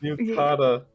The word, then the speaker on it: yukata: Yukata.